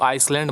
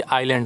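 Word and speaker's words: island: नाम से जाना है इसको आइसलैंड मत पड़ना को लोग इसमें ऐड जो है साइलेंट होता है कि आयरलैंड होता है तो उन द्वीपों के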